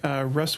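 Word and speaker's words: Ruis: My last one would be Russ Woodworking, and this is actually spelled R-U-I-S, but I believe it's pronounced Russ.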